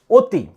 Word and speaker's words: অতি: সেটার উদাহরণ যদি বলি যদি বলা হয় অতি অতি। এখানে অতি উচ্চারণ কিন্তু সর উচ্চারণ হয় না। অতির উচ্চারণ কি হয়? এটাকে যদি উচ্চারণ করা হয় তাহলে কিন্তু আমরা বলি ও তয় শিকার। অতি উচ্চারণ কিন্তু আমরা সরে অতি বলি না।